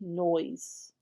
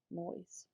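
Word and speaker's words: Noyes: bottom it's written on the back susan a noise n-o-y-e-s no i don't know how else you would pronounce that susan a n-o-y-e-s noise it's very old i peeked in the back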